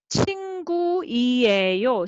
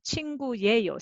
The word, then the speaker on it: 친구예요: Then sound, 친구이에요. Sounds too many vowels going all yeah, after side by side. So instead of 친구이에요, 친구예요 sounds more compact.